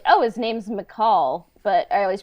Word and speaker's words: Mical: a while to be like oh his name's McCall but I always pronounced it Michael you know um Star Wars can be fun